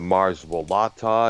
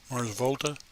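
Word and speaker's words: The Mars Volta: He also did for some of the bands like Muse, the Mars Volata. I think that's how that band is pronounced here and there. Mars Volta, Mars Volta.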